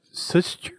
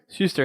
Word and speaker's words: Schuster: see let's just do the Simon and Su um suture Su how do you say that s sister blah blah blah sister Shuster thank you Simon and Shuster so I guess 343